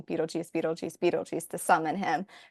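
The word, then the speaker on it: Betelgeuse: Barbara, whenever they first like see it on the piece of paper, she's like Beetlegeist, Beetlegus, like, and she's like pronouncing it phonetically as like an American Yeah, based on how it's spelled because it has that GEU like kind of weird spelling.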